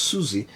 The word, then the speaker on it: Siouxsie: and the Banshees because I didn't know how to pronounce their name. Apparently just Susie.